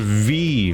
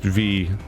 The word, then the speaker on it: VVVVVV: from the creators of V which is spelled that vvvvvv but I've heard it's pronounced just V like you just say that and also super hexagon